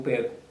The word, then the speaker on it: perco: Eu perco. Et nous sommes capables de noter que C a pas de CCD, ça veut dire on prononce comme K.